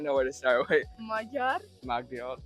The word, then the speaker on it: Magyar: Magyar. Magyar. Oh, you have to you have to roll your tongue. Yeah, you are. Magyar.